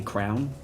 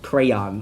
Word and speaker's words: crayon: that you draw with, I say crown. Like that, I say the thing that you put on your head and the thing that you draw with the exact same way. And I know how to say it, but like I grew up calling it a crown. So like when people are like crayon, I'm like, ugh, that's not no.